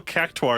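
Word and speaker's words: Qactuar: well i don't know there's no u there it's still it's like q a q a q a so it's like it's still cactoir is about the cube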